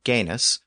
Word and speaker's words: genus: So we have the Latin word genus, which is the source of English words like genetics and genealogy. That original Latin root word was originally pronounced with that hard G sound at the beginning.